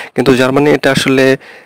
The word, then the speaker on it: A: তো আমরা ইংলিশে যে প্রথম অ্যালফাবেটটা আছে সেটাকে আমরা বলি হচ্ছে এ, কিন্তু জার্মানি এটা আসলে এ বলা হয় না, এটা বলা হচ্ছে আ।